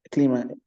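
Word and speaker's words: climat: Hay como el clima. Clima, directamente clima. No pronuncio la T final.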